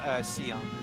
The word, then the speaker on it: Scion: I know that they spelled it wrong in the English version, but in Japanese it's pronounced Sion.